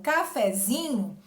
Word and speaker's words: cafezinho: Quando eu formo cafezinho, a minha sílaba tônica não é mais o fé, ela passa para o zi, cafezinho, certo?